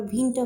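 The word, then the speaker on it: Winter: শিখতে এসে সেটাকে আমরা ভিন্নটা বলবো কেন ভিন্নটা বলবো কারণ আমরা জানি যে ডব্লিউ এর উচ্চারণটা ভয়ের মত হয় এখানে উইন্টার না হয়ে এখানে হচ্ছে ভিন্নটা ভিন্নটা মানে হচ্ছে শীতকাল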